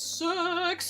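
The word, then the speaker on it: CeX: Because I've always pronounced it C-E-X. Like, I've literally spelled out the letters every time. And then finally, an advert came on telly and it was like, it goes, sex!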